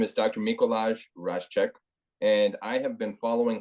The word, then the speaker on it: Raszek: name is Dr mikolai rashek so pretend that Jay is a i that's how you pronounce my name I get mikolash all the time but thank you I would introduce myself as mikolai rashik Dr mikolai rashik and